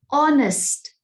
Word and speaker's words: honest: is a consonant sound do not use a when h is silent there are words like this for example an honest boy the word is